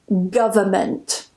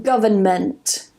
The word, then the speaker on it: government: government government I personally find that the second one is more difficult and I do find that more people tend to use the first one so without the N pronunciation but it's up to